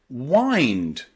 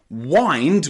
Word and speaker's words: wind: okay and of course in the word wind wind but be careful with this crazy word in English because wind which means to do this to wind up something to wind something around can also be pronounced wind in English Okay it's two different words and they can be pronounced differently depending on on what you want to say so if you want